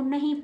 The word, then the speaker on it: know: Silent रखेंगे, के को नहीं पढ़ेंगे। तो KNOW, के को नहीं पढ़ेंगे तो क्या पढ़ेंगे, नो।